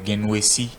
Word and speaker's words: Guinnessi: Sinon, selon ce que les parents m'auraient expliqué, c'est Genwesi. Genwesi.